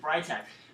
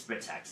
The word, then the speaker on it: Britax: Britax like them from someplace else everybody says right X but it's protects this is absolute it's pronounced so we tried to infancy for a